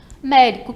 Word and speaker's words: médico: Médico, 3, sílaba tônica é o mé.